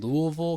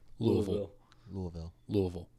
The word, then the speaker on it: Louisville: I ended up going and doing my DTS, Discipleship Training School, in Louisville, Kentucky. And you got to say that right. It's Louisville. Don't pronounce half the word.